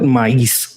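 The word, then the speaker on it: maíz: Some I think the Native Americans also call it maiz, but we call it maiz, like with an accent on the I in Spanish.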